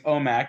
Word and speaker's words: OMAC: had been or omac I keep saying Olmec from Legends of the Hidden Temple I thought you were just pronouncing it funny and then like when you said it I was like okay I mean it's omac but maybe whatever yeah I'm